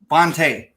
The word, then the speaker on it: Fante: Fante.